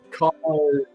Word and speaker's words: Carnotaurus: That's not how you pronounce it. Which one? It's Carnotaurus.